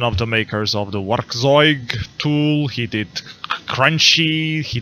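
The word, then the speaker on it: Werkkzeug: He's one of the makers of the Werkzeug tool. He did Crunchy. He did Capture. Is this how you? You don't pronounce the double K. It's just K.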